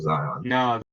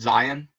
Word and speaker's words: Zion: But his name's actually said Zion. It's what? It's actually not Zion. It's pronounced Zion. But he said in high school they started calling him Zion, and he's like, it sounded cool, so I just let him do it.